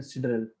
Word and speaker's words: sidereal: अभी ये देखो क्या है, pronunciation depends on region to region, so I call it a sidereal, okay, because this is how it is pronounced in astronomy anyways.